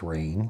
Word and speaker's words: Raen: The Raen, I learned it's pronounced Rain by going to their website and reading. We pronounce it Rain.